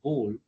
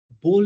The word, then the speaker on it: bowl: pronunciation of the word bowl that confuses them. Bowl like hole, not bowl like howl.